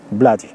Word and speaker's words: Blatty: William Peter Blatty, o William Peter Blatty, como dicen los estadounidenses, pronunciando la T como si fuera una D floja. Blatty.